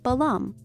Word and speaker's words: balam: make it clear that we're meant to read this glyph as ba llama - the echo vowel so Balaam these are phonetic complements